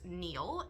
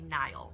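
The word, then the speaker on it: Niall: about this pronunciation so ni a l l is controversial on how you pronounce it I looked it up because I was pretty sure that it was Neil and then I was like no it's got to be Nile right and it's both it's both and it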